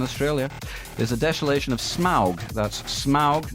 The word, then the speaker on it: Smaug: of Smaug that's smog not smog as I've always read it um I'm saying Smaug it sounds so ridiculous well it does but um Tolkien was um very specific about how these things were pronounced because he was a linguist okay anyway it's a